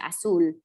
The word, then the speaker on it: azul: And remember that our Z's sound like S's, so just azul.